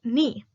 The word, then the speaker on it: knee: An example is the word knee. The word initial velar stop k is not pronounced before the nasals n.